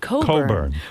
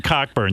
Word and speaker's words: Cockburn: get it but it's it's a Scottish name that actually in Scotland is is pronounced Coburn which you know of course